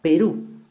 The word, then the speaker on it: Perú: Perú, mayor fuerza de voz en la última sílaba y como termina en U debe de tildarse.